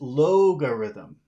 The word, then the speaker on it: logarithm: like Alor yeah the the sound is Alm and this is logarithm Lo yeah so the big sound is in the front algorithm logarithm lthm yeah algorithm logarithm